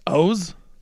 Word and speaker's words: Oz: It is O's the Mentalist. You're I'm not kidding. Go Google it. I just Googled it. The name O's the Mentalist is pronounced simply as, quote, O-H-Z. Rhymes with goes or hose.